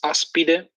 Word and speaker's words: Aspide: So going back to a really previous argument, I just want to say that the correct pronunciation is aspide. It's a asp snake, so a viper.